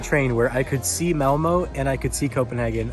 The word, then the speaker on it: Malmö: So here we are in Malmo, Sweden, or as it's pronounced in Swedish, Malmö. Malmö.